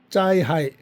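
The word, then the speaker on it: 灾害: 짜이하이.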